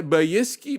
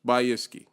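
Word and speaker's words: Bykski: and we found by by iski by iski bike by iske by iski by i think that's how it's pronounced by iski RX Vega water block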